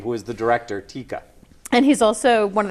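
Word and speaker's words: Taika: and he said, well, think of tiger. But now you're going to take the ER off, and you're going to make an A, and you're going to stick an A, and it's Tika.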